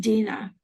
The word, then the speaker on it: Deanna: And just even though Dina's name is spelled Deana, it's pronounced Dina, which I always have to remind myself.